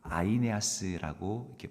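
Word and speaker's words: Αἰνέας: 만나게 되었습니다 애니아 어 우리말로는 애니라고게 써 있지만이 헬라는 그 아이네아스이 발음을 합니다 아이아 아스 여러분 아이네아스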